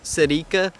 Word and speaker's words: Celica: So from what I can tell, in Japan, like, you know, where it was made and stuff, it's pronounced Celica.